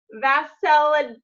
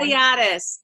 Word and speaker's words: Vasiliadis: Vasiliadis. No, I didn't say it right, did I? Basiliadis.